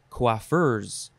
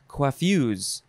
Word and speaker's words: coiffeuse: Next is, so you can pronounce this a few ways. You can say coiffeurs. Even though there's no R in there, you can say coiffeurs, or you can say coiffues, or coiffeuse.